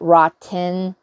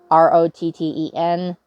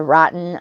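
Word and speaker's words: rattan: worry about that and it's not rotten r-o-t-t-e-n that people seem to think that that it is it's a rotten r-a-t-t-a-n but that is how it's you know pronounced as rotten i already have those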